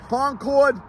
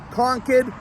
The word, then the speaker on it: Concord: Co n kid conid Concord no more everybody that sees this thinks they can fly a plane out of this place in New Hampshire and you can't conid is the correct pronunciation